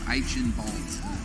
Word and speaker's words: Eichenwalde: It's Eichenwalde. No, you just have to say it like you're sneezing.